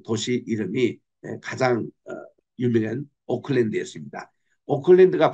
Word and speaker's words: Auckland: 오클랜드가 발음은 비슷하지만 스펠링은 완전히 틀려요.